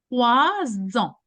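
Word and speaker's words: trois ans: Same with en. 3 ans. Oh. 3 ans. The Z sound makes your pronunciation easier.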